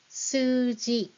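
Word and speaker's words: すうじ: The word for number in Japanese is suji. Suji. Can you spell that? Suji will spell like this with U in between because there's double U sound here.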